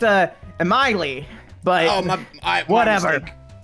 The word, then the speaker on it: Emily: Ensembl-y, what's your question? It's actually pronounced Emily, but oh, my whatever.